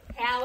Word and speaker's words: Halle: Halle Berry. Rhymes with Harry.